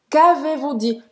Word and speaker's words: Qu'avez-vous dit: O Z do AV não vai ser pronunciado.